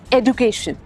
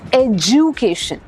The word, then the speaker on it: education: EDUCATION इज नॉट एजुकेशन, इट्स एजुकेशन। I know यहाँ पे डी है तो आप सोच रहे होंगे डी की साउंड क्यों नहीं, बस ऐसे ही है, एजुकेशन।